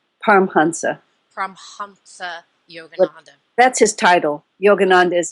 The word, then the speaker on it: Yogananda: to um okay Yogananda what how do I pronounce yogananda's name pansa pansa Yogananda that's his title Yogananda is his name so